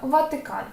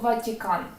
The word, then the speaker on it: Ватикан: згідно з їхньою вимовою якщо іншомовні власні назви підкреслю звучать твердо Ватикан Ми ж не кажемо Ватикан правда Це дуже чітко відчувається І тому ми точно